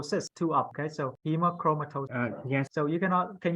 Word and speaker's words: hemochromatosis: Hemochromatosis. Good. So not cis, it's cis, it's S-I-S, no C-H. So but you got it half, you got most of it right. Hemochromatosis.